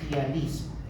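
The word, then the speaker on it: ptialismo: Cialorrea o tialismo, que se escribe con P inicial, PT, tialismo.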